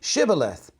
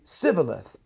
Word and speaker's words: shibboleth: to him well then say shibboleth and then he would say sibileth for he could not pronounce it right and then they would